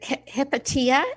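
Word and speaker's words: Hypatia: any anything really about is it hepatia is that how you pronounced her name yes yeah can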